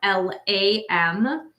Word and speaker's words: LAM: As I mentioned, the mantra sound is LAM, L-A-M. And you would say it like this. You would just inhale and exhale, LAM, while focusing on your root chakra.